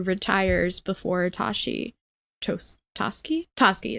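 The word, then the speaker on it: Toschi: before Tashi chose toski toski is how they pronounce it sir I've only ever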